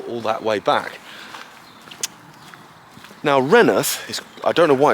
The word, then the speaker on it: Rainworth: you may have noticed I'm calling it renth and actually if you look at obviously the label on this video it's spelled rainsworth but the locals call it renth it was actually settled